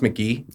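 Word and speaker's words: Mk.gee: And like even some of his other stuff, like if you listen to like it's pronounced McGee, like that album's great.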